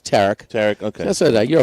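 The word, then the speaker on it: Tarik: Skeens with his Tarek or Tariq? Tariq, huh? It's Tarek.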